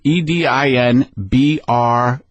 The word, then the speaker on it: Edinburgh: EDINBRUH.